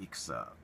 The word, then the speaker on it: EXA: It's EXA, I guess, but it's pronounced Ixa in the Japanese.